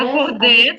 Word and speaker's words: accorder: Il est parfois difficile d'accorder les rêves Акорде, це правильно, тому що ЕР в нас читається як Е.